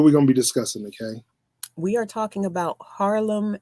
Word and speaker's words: Nike: And I'm Nikay. Yep. Spelled like Nike, but Yeah, not like the shoe.